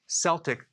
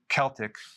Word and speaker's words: Celtic: So I do not recommend consuming sea salt unless it's Celtic sea salt, or it could be pronounced Celtic.